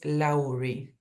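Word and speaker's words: Lowry: muchísimo que se llama él es laury se escribe lury no y digamos su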